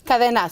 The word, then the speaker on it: KDNA: Cadena. So Cadena? So when you say the letters in Spanish, KDNA, it means chain or link.